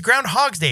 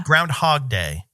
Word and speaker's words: Groundhog Day: I've always been like, it's Groundhog's Day. It's his day. This is it's his time to shine. It's his day. Yeah. No, it's Groundhog Day. Singular. Well, I know we've been saying it wrong.